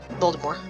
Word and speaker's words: Voldemort: I don't think they pronounced the T, but yeah, Voldemort. Okay, it was Voldemort in the movies. I remember hearing it was supposed to be, like, French pronunciation, because it literally meant flight from death, but this is, like,